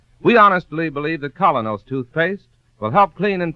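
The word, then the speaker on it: Kolynos: That's spelled K-O-L-Y-N-O-S. Colonos toothpaste.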